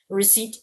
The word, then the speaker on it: receipt: You say the S, but receipt, you do not say the P.